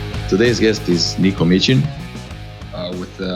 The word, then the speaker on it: Micin: Today's guest is Niko Micin. With the soft ch. Soft ch.